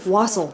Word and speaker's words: wassail: Not waffle, wassail. I said it right.